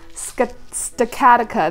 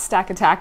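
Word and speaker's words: Stakataka: stick Attica apparently it's skeptic Attica that's how you say his name not stack attack Oh which is crazy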